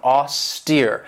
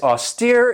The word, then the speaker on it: austere: right here austere and this has two syllables and the stress is on that second syllable with that long e sound austere and if somebody or something is austere it means that they're